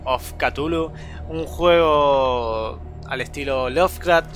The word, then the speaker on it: Cthulhu: una nueva serie hoy le toca calmos catullo se pronuncia así después de buscar varias veces cómo se pronunciaba a veces decimos q tu look call of catullo un juego al estilo